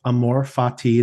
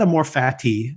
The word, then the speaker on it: Amor Fati: So let's get into the episode, which is called Amor Fati, not Amor Fati, Amor Fati. Although I do like Chelsea's pronunciation of it later.